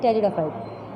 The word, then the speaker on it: Pteridophyte: The spelling is Pteridophyte. So P is silent here.